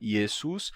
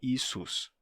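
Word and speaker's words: Ⲓⲏⲥⲟⲩⲥ: como yesus certo e você pode pronunciar tanto isso daqui como e numa forma de pronúncia do copta mais mais antiga esus mas hoje em dia eles pronunciam isso como I certo então eles dizem como eles dizem isus isus Então temos aqui em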